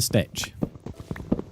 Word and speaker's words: Stitch: Your pronounced name is Stick. Yep, and then I corrected it to Stitch.